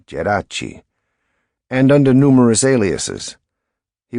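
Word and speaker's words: Geraci: him for exceeding to the American pronunciation of his name, Jurice, instead of Jerachi, and under numerous aliases, he was Sicilian, but fair-haired, able to pass as Irish or German.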